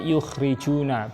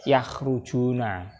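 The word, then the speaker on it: يُخْرِجُونَ: Minal mali yukhrijuna, ini dibaca yukhrijuna bukan yakhrujuna. Bedanya apa antara kharaja yakhruju dengan akhraja yukhriju?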